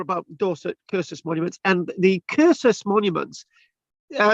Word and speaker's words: cursus: cursor's monuments and The cursus Monuments yeah it's about c-u-r the C is pronounced K from the Latin curses um as in